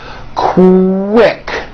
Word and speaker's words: quick: So, for example, the word quick is pronounced with a K and a strong W sound.